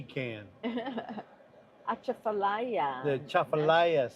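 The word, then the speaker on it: Atchafalaya: Achafallayia. The chafallayia. Say it right. It's a chafallayia. National Heritage Area. Achafallayia. It starts with an A.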